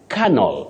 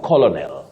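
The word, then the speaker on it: colonel: liutenant liutenant or Lieutenant okay colel not colony then lastly pediatric pediatric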